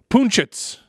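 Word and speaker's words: Punčec: Roberto Punchitz. That's his the pronunciation, as I'm told.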